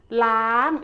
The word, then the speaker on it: ล้าง: อ่าง ล้าง ล้าง is a high tone. Start from la. Gradually make it up.